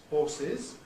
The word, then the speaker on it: horses: the plural Landing for horses after civilence though there is a substantial minority who now use sh there and say horses similarly with the Rick